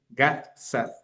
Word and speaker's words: Gad Saad: Es del 2020 y lo escribe Gad Saad. Se escribe G-A-D S-A-D. Gad Saad.